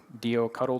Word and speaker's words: doctl: provide a tool called The doctl Tool or do cuddle tool or however you choose to pronounce that word so here you can